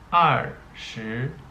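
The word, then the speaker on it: 二十: okay and 20 okay 20 is pronounced are sure okay then 21 are you okay 22 I are okay 23 are sure son okay then you move to 29 are sure Jill okay then you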